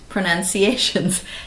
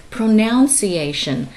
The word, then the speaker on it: pronunciation: So we have to make sure we hang on to correct pronunciations. And that's our first word. A lot of people say pronunciation, but the word is actually pronunciation.